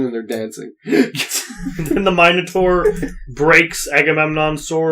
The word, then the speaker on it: Minotaur: And Agamemnon is fighting the Minotaur for some reason. Minotaur. Minotaur. Oh, Minotaur. it's a Minotaur, whatever you want to pronounce.